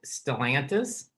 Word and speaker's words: Stellantis: a question about and correct my my pronunciation if it's wrong stellantis is that that is is that your job now yes that's pronounced correctly which Speaking of pronunciation